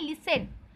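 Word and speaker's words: listen: लिसन मतलब होता है, देखिए LIS लिस्ट TN 10 लिस्टन लिखा है, पर इसे पढ़ते हैं लिसन। टी का साउंड वो हो जाता है, साइलेंट हो जाता है।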